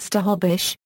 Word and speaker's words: Snohomish: For example, Snohomish is currently pronounced Stahobish, but was transcribed with nasals in the first English language records.